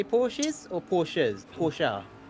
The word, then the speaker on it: Porsche: porsches or porsches porsche i suppose in germany it's a poor shower by definition then would that not be the correct way well it depends if you want to use the english pronunciation or the german pronunciation i think i'll stick